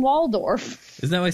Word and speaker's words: Waldorf: have had Statler and wolph as two middle-aged men who just stood around making fun of the babies yeah oh Statler not to correct your pronunciation but Statler and Waldorf isn't that what I